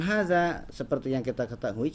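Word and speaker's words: هذا: seperti yang kita ketahui, cara pengucapan hadza itu haknya itu 2 harokat. Jadi haknya 2 harokat, kemudian za-nya 2 harokat. Za-nya 2 harokat, pasti za dibaca 2 harokat karena jelas di depannya ada tulisan alifnya ya.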